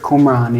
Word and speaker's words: Qumran: Qumran, the Qumran Is that how you community. pronounce it? Qumran, yeah. Qumran.